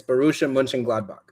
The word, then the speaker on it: Borussia Mönchengladbach: So the way it's pronounced right there is München. So like München. It's Borussia Mönchengladbach.